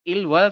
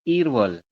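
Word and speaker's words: 일월: Bukan ilwol, tapi irwol.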